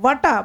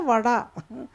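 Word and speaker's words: വട: So in Malayalam, you write the word, say, vada, vada, vata. You write it vata, but will you pronounce it vata? No, you will always say vada.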